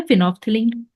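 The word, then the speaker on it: phenolphthalein: और दूसरा है फिनोफ्थिलीन, फिनो, एल साइलेंट रहता है, फिनोफ्थैलीन।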